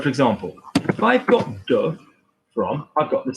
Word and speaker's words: de: It's below the line, de, okay? So do not confuse de and day.